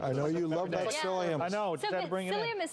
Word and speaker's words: psyllium: And psyllium is the ultimate regulator.